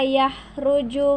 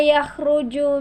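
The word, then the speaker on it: يخرج: Ya'lamu ma yaliju fil ardi wa ma yahruju min. Hindi yan ha, yan ay kha. Wa ma yakhruju minha wa ma yanzilu minas samai wa ma ya'ruju fiha.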